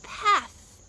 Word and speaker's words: path: is rocky or this path is rocky path path do you see my tongue path it's between my teeth oh teeth say it